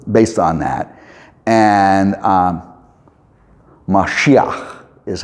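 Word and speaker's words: משיח: And um Mashiach is how it's pronounced. Mashiach is oh for Messiah we say Messiah the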